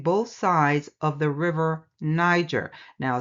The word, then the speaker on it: Niger: sides of the river Niger. Now, some would pronounce it the same way the N word is pronounced with the hard G.